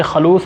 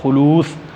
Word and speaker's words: خلوص: آگے لفظ ہے خلوص، اس کو بچے خلوص پڑھتے ہیں تلفظ کا، پھر میں کہہ رہا ہوں خیال کرنا۔ لفظ ہے خلوص، اخلاص، پیار۔ ہمارے وطن